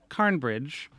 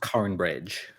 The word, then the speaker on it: Cornbridge: So that maybe there's some people who call it Cornbridge, some people who call it Carnbridge. Yeah, it's spelled Cornbridge, pronounced Carnbridge.